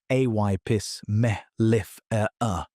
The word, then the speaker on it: Apis mellifera: Two populations of the same species, Apis mellifera, pronounced a y pis mel if er er, spent thousands of years solving completely different problems.